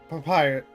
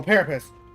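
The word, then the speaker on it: Paripus: Prince's imposter plotting to massacre the how do you pronounce it again? Papyrus. No, Parapus.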